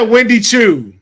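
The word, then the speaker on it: Wendy Choo: I said Wendy Chu, Dylan.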